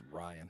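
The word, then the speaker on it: Riaan: right but right right it might just be Ryan but it's r i a a an it's Ryan uh benad day and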